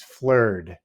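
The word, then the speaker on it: flerd: and that word is flird. I think I'm saying it right. Is that right? yep, that's correct.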